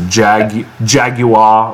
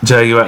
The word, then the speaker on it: Jaguar: in the comment section, it's Jaguar, like they want me to pronounce it. Jaguar, like the Brits.